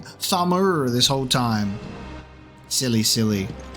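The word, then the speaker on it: Tharmr: I've been saying Thamur with like the R on the end. It's just Tham. Just take the R off. Just have it be Barnabas Tham.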